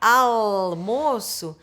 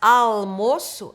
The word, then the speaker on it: almoço: é o nosso almoço essa pronúncia almoço é feita com a consoante l a o almoço assim